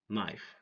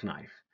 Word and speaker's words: knife: Rule number one, no, night, knee, knife. Don't say kno, knight, knee, knife. Say no, night, knee, knife. Why? Because K is silent.